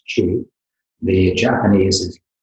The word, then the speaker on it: qi: the Chinese is qi, often you'll see it chi or qi, but it's pronounced qi.